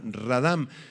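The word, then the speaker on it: רָדַם: en un profundo sueño es la palabra hebrea radam con acento en la segunda a radam describe un estado de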